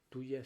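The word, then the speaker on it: Thuya: eh eh occidentalis occidentalis tuya si se escribe con t h eh u y a tuya occidentalis a la 30 ch.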